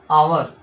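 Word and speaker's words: hour: Next आपका आवर। इसमें भी कुछ इसी प्रकार है। ऊपर ऊपर की तरह जो ऑनेस्ट है। तो आवर है ना? तो इसमें भी एच आपका साइलेंट होता है।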